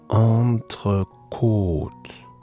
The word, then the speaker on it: entrecôte: bei dieser Speise, bei diesem Fleisch, das so geschrieben wird, da ist die richtige Aussprache entrecôte, entrecôte, entrecôte.